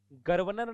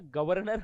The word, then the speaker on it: गवर्नर: पुनर्जन्म आधर ज पुनर्जन्म गर्वनर नहीं होता गवर्नर होता है आधार है न के